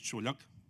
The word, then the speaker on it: Čuljak: he pronounced it correctly. The surname is Čuljak.